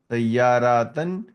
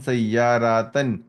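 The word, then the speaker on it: سيارةً: Now note the noun with the tanween in the accusative case takes an alif which is not pronounced. For example, kitaban, sayyaratan. So you will not saying the alif. Kitabun, kitabin, kitaban. So kitaban, there is an alif, but you are not pronouncing the alif. Sayyaratun, sayyaratin, sayyaratan. Again, there is an alif, but you're not pronouncing it.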